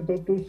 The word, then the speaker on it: TOTVS: de arte en latín, esta V era la única que se utilizaba como U y como V a la vez, y se pronunciaba según la necesidad.